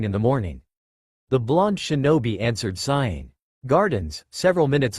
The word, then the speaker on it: shinobi: This is interesting and all, but still I failed to see how you're being a shinobi.